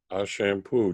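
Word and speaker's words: Ashampoo: I'm told it's pronounced a shampoo just like it's written it's actually a German company so I'd have no idea how the name came about but this is an app called a shampoo photo optimizer 20-19 it's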